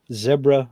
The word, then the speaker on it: zebra: crossing zebra zebra kadebra zebra rhymes with deborah yes so jim says